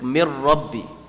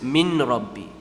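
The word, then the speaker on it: مِن رَّبِّي: No one says min rabbi. You don't say mir rabbi. You don't stretch it, nor do you pronounce the noon. What happens is the noon is completely merging and disappearing into the ra.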